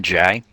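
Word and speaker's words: Jae: Outside of the elves, for obvious reason, Jay is the only character who can use Xeno weapons early game. Don't you mean Jai? I know that we've been saying it wrong, but I'm so used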